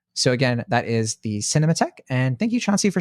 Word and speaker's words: Cinémathèque: So it's spelled, for those of you listening, cinema, the typical way, cinema, THEQUE. So I think you say like Cinémathèque, but I'm not sure.